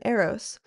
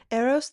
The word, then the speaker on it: Eros: Aphrodite named the flower rose, dedicating it to her son, Aeros.